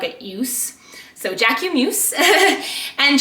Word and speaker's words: Jacquemus: I put the word Jack and then I put EW for ew as in the middle